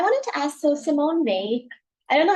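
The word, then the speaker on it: Weil: Uh I wanted to ask so Simone May, I don't know how to say her last name. W E I L. I just say V because that sound of French is um Simone May uh she talks about affliction.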